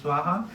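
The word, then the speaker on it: svāhā: so every time that we say swaha we pronounce swaha you throw the grains into the fire in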